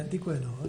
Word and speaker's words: Antiqua et Nova: Acá en Argentina había publicado Antiqua et Nova, es la pronunciación, no quiero ser... Así es, Antiqua et Nova, sí.